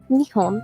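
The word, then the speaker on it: 二本: you might be wondering, isn't that the same pronunciation as Japan? And it is, but the pitch accent is a little bit different. When we say Japan in Japanese, we say Nihon. The middle letter goes up a little bit.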